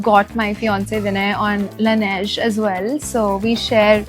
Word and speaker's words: Laneige: For everybody who's always wondering how to pronounce this brand, including me, it's Laneige. Or it's like Laneige. Laneige. I think it's Laneige.